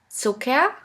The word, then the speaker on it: Zucker: The first letter combination here is CK, which is simply pronounced like a K. Here we have the example of the word Zucker, which means sugar.